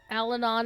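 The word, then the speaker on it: Allanon: Uh, and Alanon and that is the correct pronunciation.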